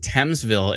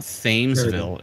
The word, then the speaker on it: Thamesville: we keep saying it wrong oh it's it's pronounced thamesville it's not famesville it's thamesville even though it's fame it's tam